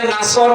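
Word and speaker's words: نصر: পড়েছে এখানে সোয়াদ আছে নাসর মানে সাহায্য আর নুন সিন র নাসর মানে এ গল্প কি আপনি যদি মুখটা গোল করে শুদ্ধ করে উচ্চারণ না করেন অর্থ আকাশ পাতাল পাল্টে যাবে আল্লাহ পাক বলেন হে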